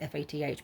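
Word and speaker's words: Fath: one is by Jacques fat I think it's how he pronounces it French it looks like fast f-a-t-h but I think you pronounce it fat kind of odd evening dress 1947.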